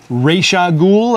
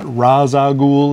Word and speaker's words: Ra's al Ghul: side then we have rag ghoul I'm going to pronounce it just like they did in the animated series not razag goul as they say on Arrow now uh rag ghoul